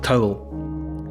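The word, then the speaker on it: teabhal: Irish Gaelic word that's spelled t-e-a-b-h-a-l but it's pronounced more or less like towel so it refers to the shape of the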